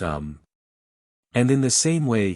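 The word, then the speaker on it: homme: a piece of bark he learned from darnet that it was pronounced um and in the same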